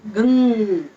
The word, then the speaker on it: Gam: So when you are pronouncing, so you make sure you are pronouncing that Gung Ganesha, Gung Ganapati. So as our Swamiji chant Gung Ganapati. So the Gung, that ing sound we want.